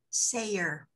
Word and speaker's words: Sayer: So Sayra, is that how to pronounce that name? Sayer. Sayer. Thank you. A court crier or a town crier, a Sayer.